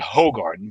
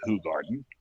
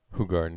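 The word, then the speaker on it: Hoegaarden: what people knew is um as americans were pronounced at hogarden but it's actually pronounced who garden who garden yeah yes and um we didn't really know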